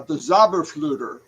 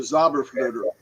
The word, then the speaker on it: Zauberflöte: opera called the Magic Flute, which was the Zauberflöte, which that's how you say it in German, the Zauberflöte.